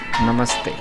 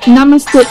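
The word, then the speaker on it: नमस्ते: How do you say hello? Namaste. Namaste. Ooh! Not namaste. Namaste. Namaste. Awesome.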